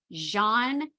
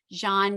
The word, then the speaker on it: Jeanne: of outer aisle Gourmet Jean David and she is a lovely woman it is a French name that I'm very glad I'm pronouncing correctly but we are going